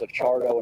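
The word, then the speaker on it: Acciardo: uh my my name is Charo and it's spelled the last name is a chardo and it's a c c i a r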